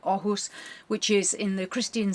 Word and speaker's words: Åhus: We're going to Oh, or spelled a hus, but I believe it's pronounced with an O. Ohus, which is in the Christian dad district.